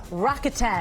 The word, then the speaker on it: Rakuten: So the first one is Rakuten.